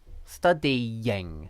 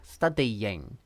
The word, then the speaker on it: studying: I in this case, it sounds like there's a y, studying, studying. Okay? So, there you go. Studying is definitely like this, that's correct.